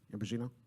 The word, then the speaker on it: Ambrosino: president ambrosino is that am I pronouncing your name right ambrosino it's the way it's pronounced okay all right I